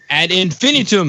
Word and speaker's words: Ad Infinitum: Is that how I say it? Ad Infinitum? Yes, it's called Ad Infinitum. Ad Infinitum. There we go. I was looking for where the emphasis should go on my syllables there.